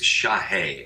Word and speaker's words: Shahe: It's Shahe, S-H-A, and then think of the word hey, Shahe.